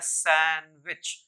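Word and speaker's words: sandwich: सी एच माय लन इसमें डब्लू का साइड नहीं होता है मायरिया लन ये होता है सैंडविच सैंडविच फिर एच ए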